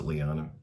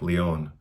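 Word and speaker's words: Léon: I guess you could pronounce it Leon if you're an American, but maybe it is. In Spanish and French, it's probably more like Leon.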